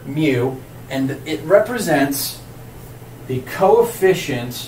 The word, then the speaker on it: mu: letter mu this is a Greek letter we pronounce this letter as mu they don't have a fraternity on campus with